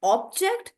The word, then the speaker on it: object: So depending on whether you're talking about an object as a thing or whether you're objecting, the syllable stress is changing.